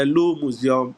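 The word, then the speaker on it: Louvre: to pronounce everything but in French you don't pronounce everything so they is called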